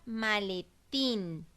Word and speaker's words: maletín: Voy con la palabra maletín. La separo en sílabas ma, le, tin. La sílaba tin es la sílaba tónica, por lo tanto es una palabra aguda.